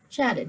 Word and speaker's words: chatted: we go okay so okay how do you pronounce that chatted right chatted very good cried cried everyone pronounce that correctly